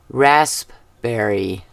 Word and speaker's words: raspberry: We pronounce it raspberry, right? Isn't that how we always do it? We totally ignore the P in it. Raspberry.